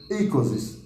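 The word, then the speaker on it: oikeiosis: Então, a ikosis, ele escreve oikeos, mas a pronúncia grega mais aproximada seria ikosis.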